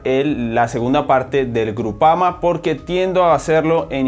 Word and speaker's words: Groupama: primos y primos orobitg el equipo se llama groupama difícil se pronuncia groupama es y y